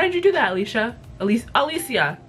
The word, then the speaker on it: Alicia: Alicia is how she pronounces her name.